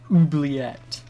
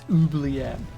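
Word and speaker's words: oubliette: mean yes it is obviously because it's it's pronounced ubliet like it's not pronounced Wang at or you fat in what mate it's Ubly air so yes it's a posh thing not really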